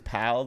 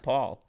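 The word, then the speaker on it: Pall: like theo on steroids people always say my last name is pal though which is very annoying because i feel like it makes sense like p and then a l l like how do you say all like all paul yeah i have to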